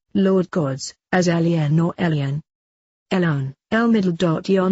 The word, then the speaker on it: Elyon: Also, the name in Hebrew for the Most High God is called Elyon and is pronounced Elion. Phonetically it is almost exactly like alien, because that is exactly what they are.